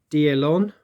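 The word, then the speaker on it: d'Erlon: to Rusty uh for his assistance with the pronunciation of uh of the this Commander so that's a deal on uh who is the first core commander see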